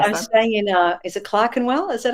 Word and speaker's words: Clerkenwell: Is it Clerkenwell? Is that how you pronounce it now?